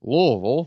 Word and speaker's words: Louisville: Obviously, Louisville beat us last year, 33-20 in that heartbreaker down in Louisville. You got to really pronounce that way.